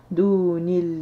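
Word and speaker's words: دُونِ اللَّهِ: Duni, la alif qui ne se prononce pas, donc on va faire la liaison avec la lettre qui précède. Dunillahi, dunillah, sauf Allah.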